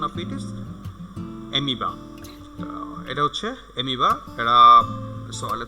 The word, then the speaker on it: amoeba: Okay, it's not amoeba, it's amoeba. Okay, the pronunciation of it is amoeba.